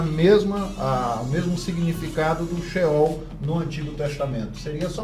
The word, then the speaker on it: Sheol: listas a tradução uma expressão correta Como se pronuncia corretamente e esse é o sheol significa o mundo dos mortos ou Sepultura lá